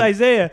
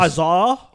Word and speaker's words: Isaiah: Bro, that's like it's not even like, that much easier to pronounce. Hey, it's just my different. Name's Isaiah. It's just hey, worse. Azar.